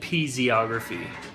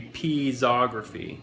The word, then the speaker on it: piezography: peas ography also called pz ography which is interesting because of the way it's spelled p IE 0 which would you would think would be peas ography not pz ography not that the pronounciation